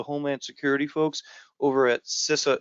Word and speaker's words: CISA: It's being developed by the Homeland Security folks over at CISA is how you pronounce it, CISA.gov.